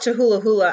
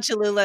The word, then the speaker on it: Cholula: to we call it chihula hula i don't think that's how you pronounce it chalola we love cholula in our family too